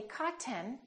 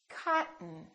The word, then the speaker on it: cotton: curtain one more word don't say cotton say cotton cotton okay let's try some